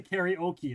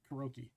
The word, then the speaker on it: karaoke: It's not the karaoke. It's Karroi. is they probably don't even say it like either of them. Like no matter which way you say it in the US, it's probably still wrong.